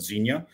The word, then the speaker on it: Xenia: So in the Midwest, tell me the name of the city because I will mispronounce it. So we're in a little town, a little suburb of Dayton, Ohio, called Xenia.